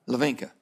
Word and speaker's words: Lavinka: Lavinka. You're very close. The H is silent.